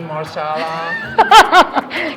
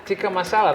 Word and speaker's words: masala: oh please say that again for now tiki marsala can i teach you how to say it yeah masala that's what i said right chicken masala so